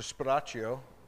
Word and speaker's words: Sparacio: offer Around The Godfather the audio pronounces the name as Mr sparaccio which happens to be my name so I know it's